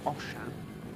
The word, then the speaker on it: Oshan: It's Oshan. Oh, Oshan. Oshan Thomas. Beautiful Osh name. No H to give you that sh sound, but I can assure you, Oshan is how it's pronounced.